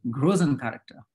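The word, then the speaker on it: Größencharakter: And he called them Grösen character. So Christoph, you're going to correct my German pronunciation, Grösen character.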